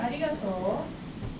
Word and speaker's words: arigato: So when we say arigato, the pitch matters. You go up and down and stay low. Go low, high, low, low, low.